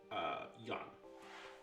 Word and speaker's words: Jan: Yeah, just to clarify, it is Jan. Yeah, it's Jan, but when I asked you Yeah, that's why how he it's was spelled. Chinese, you said it's spelt with a J, so Yeah, I've written J in my notes.